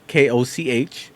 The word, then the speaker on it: Koch: Koch. That's how it's pronounced.